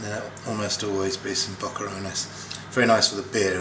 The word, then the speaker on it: boquerones: You'd say, would you say bocarones? Yeah, bocarones.